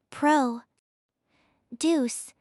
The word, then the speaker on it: produce: When it is a noun meaning fruits and vegetables, the stress is on the first syllable. Pro deuce.